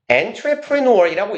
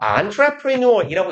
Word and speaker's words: entrepreneur: 얘는 entrepreneur이라고 읽기도 하고요. entrepreneur이라고 읽기도 해요. 왜냐하면 얘가 불어 단어를 그대로 쓰는 거예요. 그래서 스펠링도 좀 이상하죠. 사업가. 비즈니스맨을 조금 더 고급지게 칭하는 방법이에요. 그래서 보통은 불어의 원어 발음을 비슷하게 하면서 entrepreneur처럼 발음할 겁니다.